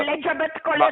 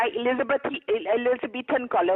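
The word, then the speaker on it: Elizabethan collar: एलिजाबेथ कॉलर नहीं होता, एलिजाबेथन कॉलर होता है।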